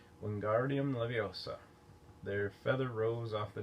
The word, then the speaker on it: Wingardium Leviosa: Wingardium Leviosa, he shouted, waving his long arms like a windmill. You're saying it wrong, Harry heard Hermione snap. It's Wingardium Leviosa, making the gar nice and long.